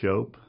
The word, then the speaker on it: Shope: of World War II my name is schop and it's spelled